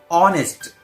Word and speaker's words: honest: Honest. Actually, it starts with a consonant letter H. But H is silent here, so it doesn't sound.